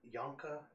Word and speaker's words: Yonka: I need you to take them to the Yonka system. Exactly how it sounds. Yonk and Ah.